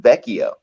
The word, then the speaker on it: Vecchio: Oh, actually, I wanted to say it's pronounced Vecchio. Vecchio, okay.